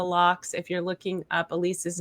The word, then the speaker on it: Alese: You can find Beyond the Locks if you're looking up Elise's name. It's spelled Alese, and it's Johnston with a T, Johnston.